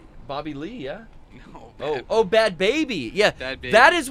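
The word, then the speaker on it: Bhad Bhabie: Pronounced Baby? I thought it was Bad Bob. She, it's Bad Baby. Yeah, it had like an H in it.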